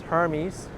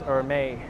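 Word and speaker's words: Hermès: to pronounce very well it's Hermes now I'm just kidding it's or may or may is a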